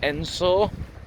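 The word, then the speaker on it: Edensor: gonna head into the uh little village of ensor so just passed briefly on the edge of a village spell eden saw but pronounced ensor and it was built between 1838 and 1842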